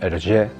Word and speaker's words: Hergé: sabéis todos georges remi más conocido como hergé que es la pronunciación de las dos iniciales la er en francés pero cambiadas de orden aérea este autor nació